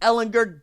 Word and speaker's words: Ehlinger: turn the ball over Sam hard G Ehlinger goes back for the